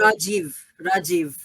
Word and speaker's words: Rajiv: how do I spell sorry how do I pronounce it Rajiv Rajiv okay nice to meet you Rajiv and